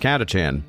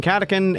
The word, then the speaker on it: Catachan: Like, fun fact, I actually do know it's pronounced Catachan. I just prefer saying Catacan, and also prefer saying it that way because it makes people annoyed.